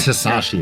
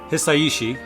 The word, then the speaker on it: Hisaishi: name right me neither it's not just hasashi it's like hii yeah because Japanese just pronounced differently so uh hisaishi I I have to